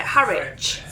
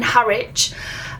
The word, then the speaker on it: Harwich: This drops us off in, how do you pronounce it? Harwich. In Harwich.